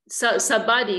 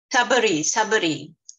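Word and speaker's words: Shabari: The lady who, Gurudev, Sabadi, was it Sabadi? Yeah, she tasted, it's mentioned in the Ramayan. Oh, Suvasanidhi, maybe you remember. Is it Sabadi? Sabari.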